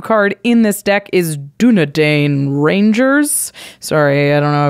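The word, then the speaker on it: Dúnedain: ring temps you card in this deck is dunedain Rangers sorry I don't know if that's exactly how you pronounce it it is nailed it three to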